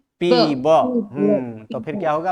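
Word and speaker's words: पिबन्ति: पीबतः, अन्य पुरुष बहुवचने पीबंती। पीबंती, ब का उच्चारण करना है।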